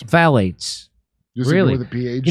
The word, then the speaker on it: phthalates: Phthalates. Phthalates.